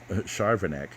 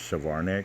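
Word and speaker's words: Charvanek: of the combat um charvinek and you know i i was mispronouncing her name in in the other videos i thought it was chavarnick but i mean charvin i just never really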